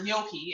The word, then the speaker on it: gnocchi: just feel weird saying yoki but anyway so gnocchi is how it's pronounced and um gnocchi it says how i